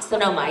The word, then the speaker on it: Sonoma: Sonoma, yeah, it's just as it's spelled.